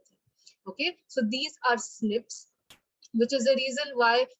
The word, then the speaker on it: SNP: in this case and snips or snps it's pronounced as a snip but it's called snp so single nucleotide polymorphism